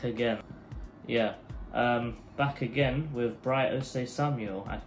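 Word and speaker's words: Bright Osayi-Samuel: Yeah, back again with Bright Ose Samuel.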